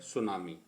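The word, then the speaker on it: tsunami: पहला वर्ड है सुनामी। इसकी बच्चों याद रखना, हमेशा इसकी स्पेलिंग की शुरुआत हमेशा टी से होती है और स्पेलिंग मिस्टेक्स में ये शब्द बहुत पूछा जाता है, ठीक है।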